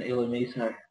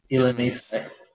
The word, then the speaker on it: Illumise: The same with Bulby and Illumiso. Yeah. Sorry, how did... What? Illumise.